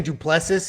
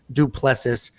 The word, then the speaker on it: Du Plessis: trevin giles versus juriscus i'm saying duplessis it's like do play but we know how